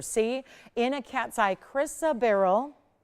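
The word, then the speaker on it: chrysoberyl: effects you'll ever see in a cat's eye chrisa Barrel pronounced chrisa barrel and it's going to be 71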